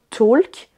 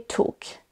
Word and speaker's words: talk: Dans ces deux mots-là, le L ne se prononce pas, on ne dira pas walk ou talk, mais bien walk et talk.